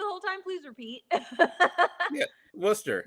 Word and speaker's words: Worcester: There's See, English is fun. Like there's a lot of silent letters in there.